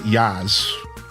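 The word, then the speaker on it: Jas: All I know is I met somebody in my real life that their name was J A S and they pronounced it Yaz.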